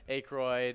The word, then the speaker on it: Aykroyd: Aykroyd.